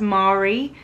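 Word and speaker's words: Marri: This bag is from a brand called, I think it's pronounced Mari. It's M-A-R-R-I, and it's a small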